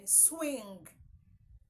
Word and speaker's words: swing: my king my queen swing is not swing there is no G there is no G sound in swing okay so this symbol